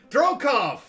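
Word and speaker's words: Drokov: Baron van derokov ah thank you drocoff right like Rocky Balboa that was the thought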